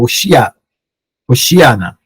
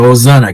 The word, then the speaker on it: Hoshiana: ao seu encontro gritando, Hoshiana, né, que é Osana, que o pessoal pronuncia.